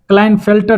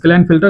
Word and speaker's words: Klinefelter: Sex related में देखेंगे Turner syndrome क्या होता है, क्लाइनफेल्टर सिंड्रोम क्या होता है, क्लाइनफेल्टर KLINEFELTERS क्लाइनफेल्टर सिंड्रोम क्या होता है।